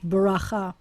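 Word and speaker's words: בְּרָכָה: bet and the resh, bracha. You could even say bracha. Accents on the last syllable.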